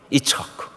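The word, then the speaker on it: יצחק: 뭐였느냐 그게 뭐예요 이삭 그런데 이삭은 우리가 하는 발음이고 원래 그 히브리 발음대로 가면요 그게 바로이 차 그럼 이처크 이삭이 이삭은 2차 무슨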